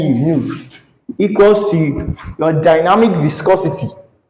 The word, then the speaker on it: nu: And from here, symbolically, kinematic viscosity, this is the unit, this is the symbol, this is called nu, it is pronounced as nu, nu, equals to your dynamic viscosity.